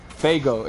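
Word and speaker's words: Faygo: Oops. Fago. It's spelled F-A-Y-G-O.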